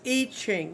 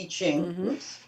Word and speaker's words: I Ching: into doing eating it's itching it's it's i say it's spelled i ching but it's itching yeah it's the iching